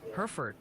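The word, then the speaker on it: Hertford: It's pronounced Herford County like the cattle.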